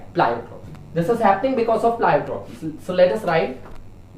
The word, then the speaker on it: pleiotropy: I don't know, but I think it's pronounced as pleiotropy only.